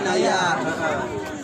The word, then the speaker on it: Naja: Tapi Naja apa Naya sih? Naya itu bacanya Bacanya Naya. Itu kolanya Sugro atau Ejaan lama.